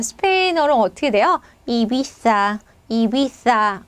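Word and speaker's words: Ibiza: 유명한 휴양지 섬인데 이비자섬 자 스페인어로 어떻게 돼요 이비사 이비사 어 자 예전에 금 배트맨 시리즈에 이제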